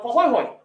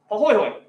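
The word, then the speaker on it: pāhoehoe: This one's called Pahoihoi. Pahoihoi.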